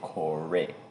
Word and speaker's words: Kore: to the reliant series so we have the corey or some people say cor i'm going to say corey that's how it's supposed to be pronounced that's